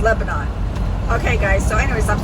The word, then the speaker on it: Lebanon: It's supposed to be Lebanon, Tennessee, but I say Lebanon because that's the way it's spelled. N O N is the last three letters of Lebanon. I know the southern people call it Lebanon, but anyway, it's no big deal to me.